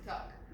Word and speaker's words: Tuck: Sister Tuck. Rhymes with duck.